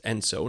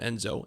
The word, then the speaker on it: ENSO: It's ENSO, not Enzo, ENSO.